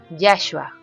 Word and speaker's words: Yahshua: su escritura es hebrea que se lee yahua que se pronuncia yashua cuyo significado es y